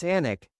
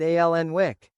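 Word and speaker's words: Alnwick: When we started the Anic Garden, no journalist could pronounce Anic." They all said alenwick.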